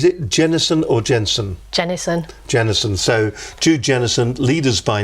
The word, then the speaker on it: Jennison: by nature I want to make certain I'm pronouncing your surname correctly is it Jennison or Jensen Jenison Jennison so to Jennison leaders by nature is the